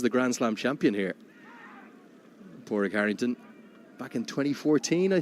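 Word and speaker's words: Pádraig: which is the most common and easiest to pronounce there's then porrig which is p-a-d-r-a-i-c and then there's porig with the G so poric and porig both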